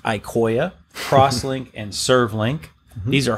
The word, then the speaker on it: Iqoya: are not that many there's really two it's pronounced icoia crosslink and servlink these are hardware codecs you